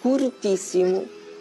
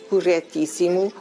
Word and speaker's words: corretíssimo: a pronúncia das palavras eu já ouvi dizer curtíssimo na televisão uma pessoa aliás muito ilustre muito curta em vez de corretíssimo para nós pensar no